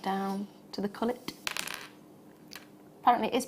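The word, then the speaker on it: culet: And whenever we were saying coulee, I was like, oh, I don't know what that bit is. No, it's cullet. Yeah. It's cullet. So if you call it a coulee, it's not a coulee.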